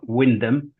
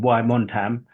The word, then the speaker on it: Wymondham: norri Nixon now suzan is the mayor of Windam um and I'm glad I said that right I think last time you was on the show I said why monam which I think how I pronounce It in